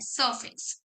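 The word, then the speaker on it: surface: ऑन द सरफेस, ये सर नहीं बोलना, ठीक है, ये एक तरह से ना जो र होता है ना, वो साइलेंट में काउंट होते हैं। सरफेस, ऑन द सरफेस यानी कि ऊपर ही ऊपर, ऑन द सरफेस।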